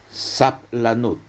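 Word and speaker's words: סבלנות: a u b l a n u t sapl lanud en hebreo moderno Entonces eso en nuestra mente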